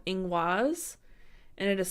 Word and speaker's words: Ingwaz: I'm gonna teach you guys today is called Eng waz and it is spelled ing waz and the important part of